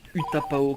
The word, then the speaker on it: Utapau: Ah, bon, ben, je l'ai mal prononcé, on prononce Utapao comme vient de le dire le narrateur.